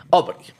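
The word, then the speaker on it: Obry: Eh, me habías dicho cómo se pronunciaba, pero se me olvidó. Tú que sabes, francés. Obri. Obri.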